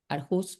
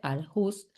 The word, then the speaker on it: Aarhus: el Convenio de Aarhus, Aarhus se escribe a a e r h u s, Aarhus se debe pronunciar diferente en nórdico, pero yo le digo Aarhus que es como se lee.